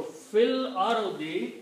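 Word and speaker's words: في الأرض: So by joining these two, this alif has to sacrifice itself. This has to go away. But we still leave there, we do not pronounce. That's the reason we change the sign of this to a small swat. Means it is written there, not pronounced anymore.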